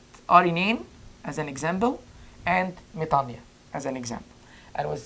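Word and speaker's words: μετάνοια: Not metanoia, metania. And this is because it's Greek. This is how you pronounce it. And it has a double vowel rule for omicron and iota together, which made it an I instead of OY.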